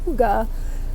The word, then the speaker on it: Hygge: I think it's so funny that Red Heart finally decided to put the pronunciation on there because for so long everybody was mispronouncing Hygge, myself included.